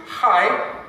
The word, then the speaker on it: Chai: And another way of saying life in Hebrew is Chai, taken from the word Chaim. It sounds like I'm spitting up some phlegm, but you've got so used to that, haven't you?